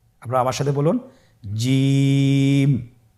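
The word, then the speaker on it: جيم: আপনারা আমার সাথে বলুন জিম হা খ জিম হরফটি বারিক হরফ এটা উচ্চারণ করতে হবে তিন আলিফ টেনে দেখুন আমি কিভাবে উচ্চারণ করছি আপনারা আমার সাথে করুন জিম মাশআাল্লাহ আবার বলুন জি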